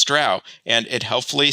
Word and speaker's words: Drow: I think it was usually Drow, but it's hard to say. I'm somewhat of a language chameleon, and so if someone said Drow long enough after I'd said Drow, I probably would have changed it over.